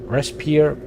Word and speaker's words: Respire: Respire, okay, sounds like respiro, which is the Italian for breath.